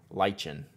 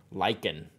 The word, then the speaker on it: lichen: was the one that no it was uh lychen lychen did we did i say it right this time leeching lychen zuzmo liken lichen is it this one lichen yeah this